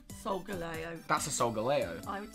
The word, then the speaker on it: Solgaleo: I call it Solgaleo, but I'm being asked, is the pronunciation Solgaleo or Solgaleo? Solgaleo.